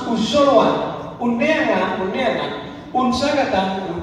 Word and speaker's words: unjoloan: We write unjoloan, but we pronounce uzoloan.